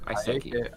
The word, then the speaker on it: Aiseki: Sure, I'm playing Aiko Aiseki. Aiko Aiseki. Let's figure out the pronunciation now. Aiko Aiseki. Aiko, Iseki. Iseki. I'm gonna stick with that because Great. it seems in Japanese inspired, and I'm terrible at those sorts of things.